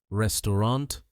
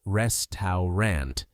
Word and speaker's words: restaurant: Notice how the middle au sound disappears.